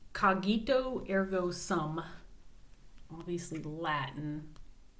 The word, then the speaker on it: cogito: And cogito sounds like cognition to me, so that's how I'm pronouncing it. Cogito instead of cogito. I think it's better with the hard G.